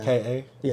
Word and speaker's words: Kai: Because I also got to listen to that Kai album. I still ain't listened to it yet. Oh, the K.A.? Is that how you say it? Yeah, Kai. Okay.